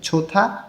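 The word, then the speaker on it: 좋다: ভিউটা উপরে লেখা আছে ছোথা ভালো হিউত বাচ্চমের পরে যখন দ আসে তখন এই দ টা থ উচ্চারণ করতে হয় ছোথা মানে হচ্ছে ভালো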